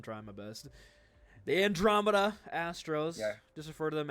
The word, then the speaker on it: Astros: And Armada. Yeah, I know. I have been saying it wrong the entire season. I'm trying my best. The Andromeda Astros.